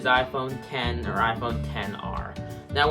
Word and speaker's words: iPhone X: hear people going oh I phone XR iPhone X when the real pronunciation is iPhone 10 or above 10 are